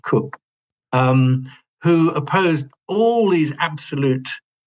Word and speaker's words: Coke: Yeah, spelt Coke, C-O-K-E, but pronounced Cook, who opposed all these absolute ideas being expressed by James, and they came into conflict with each other, not surprisingly.